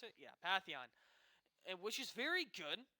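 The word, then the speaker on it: Pantheon: me and it looks like SSC is going Patheon that's how you pronounce it yeah Patheon and which is very good he's also very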